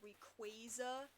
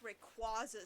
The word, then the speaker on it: Rayquaza: It's like the frickin', the pronunciation of, it's supposed to be Rayquaza or Rayquaza.